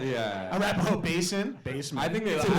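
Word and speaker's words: Arapahoe Basin: place and like the people laughing at me mispronouncing arapahoe basement yeah arapaho basin basement i think i call it the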